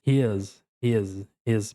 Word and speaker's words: his: E ele também, olha só a pronúncia, não é ris com s. Até até acabo errando também. Isso daí faz parte, mas his parece que tem um Z no final.